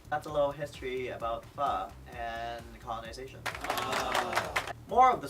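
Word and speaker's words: phở: That's a little history about pho and colonization. More of the story. How do you pronounce pho? Not pho, or pho. Pho, as in you're asking a question.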